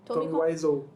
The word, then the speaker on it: Wiseau: cara lá, o Tommy Wiseau.